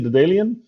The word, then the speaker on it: Daedalean: Autonomous Flight with Luuk Van Dijk, CEO of Daedalean. Luuk, welcome to the show. Thanks for having me. Hey, Luuk, you're the CEO of Daedalean. Did I say it right? Almost. I say Daedalean, but I accept any.